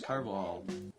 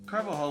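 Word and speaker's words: Carvajal: should have their play Felix karvall is that how that's pronounced car ball think it's actually car vaginal car vaginal nice carvahal was from Cuban had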